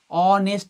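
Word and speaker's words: honest: অনেস্ট ম্যানের এইচ উচ্চারণ করো, দেখো তো, অনেস্ট ম্যান, অ এর মতো হচ্ছে, তাহলে এখানে এইচ এর উচ্চারণ কার মতো পাচ্ছি, অ এর মতো হচ্ছে।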